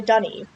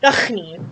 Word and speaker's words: D'ni: prison age by the Dunny. I don't know why Yeesh pronounces it Dunny. I used to pronounce it Dunny as well.